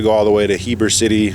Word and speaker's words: Heber City: all the way to Heber City pronounced Eber City I guess the H is silent that's about 80 miles